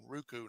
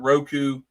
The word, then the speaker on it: Roku: NWA on Ruku. Now we're on Ruku. That's the first time I've heard someone pronounce Roku wrong.